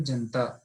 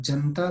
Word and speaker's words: जनता: हिंदी में देखें तो बहुत से लोग पढेंगे जनता कि जब जनता पढ़ोगे तो आपने इस वाले लाखों जो यहां पर है उसका उच्चारण नहीं किया आपने पढ़ा जनता इस ना देना का ही अपने उच्चारण किया जो हिंदी में सही होगा लेकिन संस्कृत में ऐसा अपेक्षित नहीं है यह सो यह सब